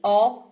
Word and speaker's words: ho: Chi ho. Once again, I remind you that the H is mute, is silent in Italian, so it's just o.